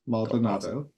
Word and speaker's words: Maldonado: I don't know if I've ever am I pronouncing your last name correctly yes malado awesome um Quinton got uh their BFA from